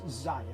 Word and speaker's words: Xia: going big so all right so it's it's Zaya that is how he pronounce the game it is a Space Opera